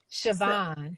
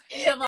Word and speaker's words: Siobhan: Siobhan. It's okay. You know what? It's tricky though because it's the Irish spelling, the Gaelic way of spelling it.